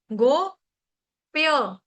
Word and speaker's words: गोप्य: ओ गो प्य प्य ये प्य कौन सा है? प्यार वाला प्यास वाला प्याज वाला प्याले वाला ठीक है प्यार प्याला प्यासा प्यास प्याज वो वाला प्य इसको पाय नहीं बोलेगा कोई ये पाय नहीं है ये है गोप्य गोप्य उसके बाद आपका आ